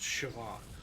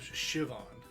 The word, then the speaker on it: Siobhan: an Irish name right s-i-o -b-a-n is pronounced Siobhan pretty sure it's Siobhan it's Siobhan take a word for it I'm not about to get in the middle of this sometimes Shivan yeah okay where did